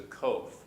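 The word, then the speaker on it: קוף: there, and it's the kof. And so it's more of a Q sound, kof, k. But once again, it just sounds like K when you say it by itself.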